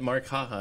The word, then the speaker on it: Marqaha: yep nice yeah um skip your product is maraha your last name your your uh brand name I'm having a hard time pronouncing all of them apparently but markah is that right that's it okay cool so